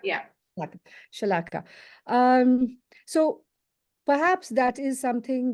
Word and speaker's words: Shalaka: Is it Shalaka? Shalaka, yeah. Shalaka.